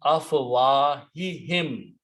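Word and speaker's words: أفواههم: Harf jar will change afwahu to afwahi in order to pronounce a proper tajweed, even though pronouns don't change by the grammar, but by tajweed they can change. So it becomes afwahihim.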